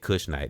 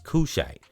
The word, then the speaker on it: Kushite: 8th century uh Kush Kushite and I've been pronouncing that wrong. It's cuz I said Kushnite. It's Kushite. Uh K U S Hi T. Kushite king from N from Nubia, modernday Sudan, who